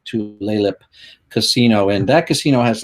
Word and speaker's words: Tulalip: I can never pronounce the name right. It's like Tulalip Casino.